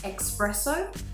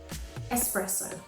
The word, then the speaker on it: espresso: lot in coffee shops most people who say this word as expresso are saying it similarly to the word express the trick is to change that c sound to an s so the correct way should be espresso it's common for borrowed